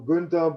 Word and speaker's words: Günther: Gunter is a male duck. I know can make sound like a male duck, but just call me Gunter or Günther, but not Gunter.